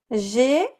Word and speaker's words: j'ai: So listen to the difference in pronunciation between je and j'ai. Je, like in je suis américaine. J'ai, like in j'ai un cours de français.